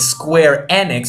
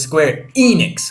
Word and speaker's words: Square Enix: a few things like when this character said Square enex I always thought it was Square Enix I think he can say it that way but I think square enex is how you say it the right way anyway uh something you